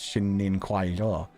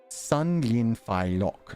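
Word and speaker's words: 新年快樂: So thank you for giving me the pronunciation guide, because I would have just read that again as Xin Nin Kuai Lo. So, Sun Lin Fai Lok.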